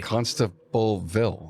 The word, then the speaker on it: Constableville: And every time I order parts from a source outside of my normal parts distributors, I have to say constable like an old cop. So they spell it correctly. Constableville.